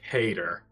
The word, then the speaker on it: CHAEDR: I'm seeing in the chat here that the CHAEDR is pronounced Cater. Cater.